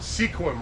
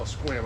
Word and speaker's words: Sequim: If you cut back your lavender, we always laugh because we call it sequim, right? No, squim, I'm just kidding. I'm from here, so I say it right.